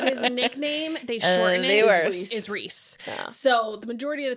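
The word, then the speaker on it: Rhys: rice the whole time Reese not rice well I'm glad you told me because in the um darker shades of Magic World Ry RH y yes that's right that how you would pronounce his name yeah so I would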